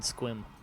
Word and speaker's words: Sequim: of you're from this area when you can pronounce these local Native American names. Okay, I'll try. Puyallup and Sequim. Puyallup and Squim.